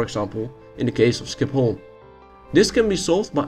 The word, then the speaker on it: Schiphol: Oh, and by the way, did you know that Schiphol is actually pronounced as Schiphol in Dutch?